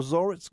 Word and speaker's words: Zoritz: That is the parent company for Zoritz Golf.